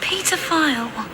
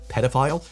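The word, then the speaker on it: paedophile: is Peter file his name is pedophile it's Peter file not petophile this is a word where when it comes up in conversation I feel pronouncing it the Amer ameran way pedophile is so different sounding that it causes Brits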